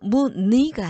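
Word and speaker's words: 무늬: 다만 의라는 이중모음이 자음을 첫소리로 가지고 있을 때 그 음절의 의는 이로 발음한다. 자, 그러면 자, 닐리리가 아니에요. 닐리리. 자, 의에 니은이라는 첫소리를 가지고 있죠. 이럴 때는 이로 발음해야 돼요. 닐리리. 그리고 무니가 아니고 무니.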